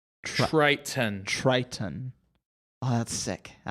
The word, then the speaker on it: Triton: Okay, imagine the word try, T-R-Y. Try. And then ton. Triton.